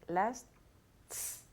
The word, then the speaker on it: lasts: Okay, so it's difficult because you have to say S, then T, then S again.